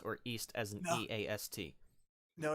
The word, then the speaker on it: Ys: East as an No, EAST? no, it's spelled YS. So a lot Oh. of people would be forgiven for pronouncing it Wise as the title of the game series, but Yus. it's East.